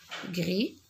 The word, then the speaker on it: gris: je ne l'entends pas gris la lettre s est muette mais la lettre z